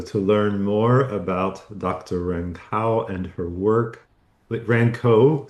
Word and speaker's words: Rankow: Rankow. Rankow.